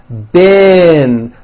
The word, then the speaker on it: been: a low a sound been like in the word hit okay even though it's